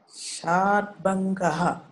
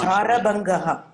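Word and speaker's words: शरभङ्गः: Sharbangaha. No, Sharabangaha. Sharabangaha.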